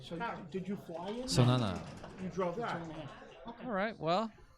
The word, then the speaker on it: Zonana: How do we pronounce that last name? Zonana. Oh, okay. So did you fly in? Zonana.